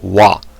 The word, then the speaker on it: は: So, ha, pronounced wa when used as a particle, it's a topic marker indicates what the sentence is about or the theme of the conversation.